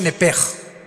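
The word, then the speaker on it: נפש: Digo, por favor, esta palabra alma en el original hebreo es la palabra nepes. Apúntala como suena nepesh con sh se pronuncia nepej.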